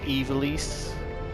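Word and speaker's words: Ivalice: I've always said Ivalis, but apparently people insist the internet over that it's pronounced Evilis, which I think is a dumb way to say it.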